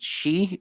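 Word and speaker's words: sidhe: not sh sorry s-h-i-t no it's s-i-d-h-e and is it she is that would she okay gotcha um uh john asks are any of you familiar with the doc sheed novels by aaron allstone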